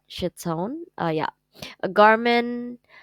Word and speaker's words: chiton: resembles the ancient Greek shitton I don't know how to pronounce that chiton uh yeah a Garin